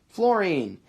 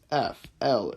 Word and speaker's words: fluorine: Fluorine. And if you need to spell that for reference, it's F-L-U-O-R-I-N-E. Okay, it's not fluorine, it's F-L-U-R, fluorine.